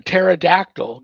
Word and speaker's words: pterodactyl: why can't you hear a pterodactyl go to the bathroom because the p is silent good night Danny good